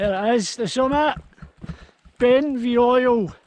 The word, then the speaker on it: Beinn Bheoil: there is the summer ben v oil i think it's pronounced i've been the oil